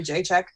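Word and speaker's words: Jędrzejczyk: central Europeans going on her long name is like your to check or something but they call a Jay check because nobody can pronounce it yeah so that fight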